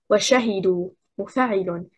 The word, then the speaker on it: وشهدوا: The stress is on the second حركة, حركة الشين. We say وشهدوا مفاعل and not وشهدوا مفاعل and not وشهدوا مفاعل and not وشهدوا مفاعل.